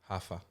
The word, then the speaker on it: Huff: In Brazil, everyone says Huffa. Huffa. Yeah. But how do they spell it in Brazil? Okay, that sounds like rougher Yeah. to me. Rough. Because like the sound of H, it's the R for us.